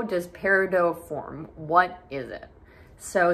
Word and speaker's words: Peridot: and that is pronunciation the t is silent it is not pronounced Peridot it is pronounced Peridot so that is the